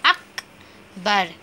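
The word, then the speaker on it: अकबर: So second letter கா, அதை நம்ம ஆஃபாக ப்ரொனவுன்ஸ் பண்ண போவோம். ஃபோர்த் லெட்டர் ரா. ஸோ அக்பர்.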